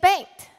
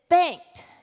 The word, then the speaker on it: Bengt: And she said, Bengt. And I said, what? And she said, Bengt. And I said, can you spell it?